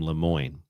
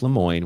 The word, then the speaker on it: Lemoine: name was Blake, and I believe you pronounce his last name Lemoine. Blake Lemoine was convinced that the thing was sentient.